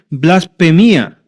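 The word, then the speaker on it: βλασφημία: En griego se pronunciaría así, blasfemia.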